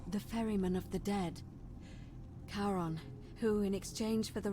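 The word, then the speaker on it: Charon: h a r the ferryman of the Dead karon who in exchange for the right coin helps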